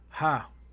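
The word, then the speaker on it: ה: Now the next letter we have is the letter ha which the pronunciation is ha.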